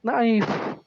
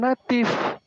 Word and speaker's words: natif: Kenapa Deki bacanya jemaat naif? Harusnya natif.